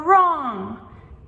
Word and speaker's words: wrong: These are tricky because it's almost like they put the W and R together. However, when we listen to this, we are really only pronunciating the R sound. Right, wrong, and so on, instead of the W wa.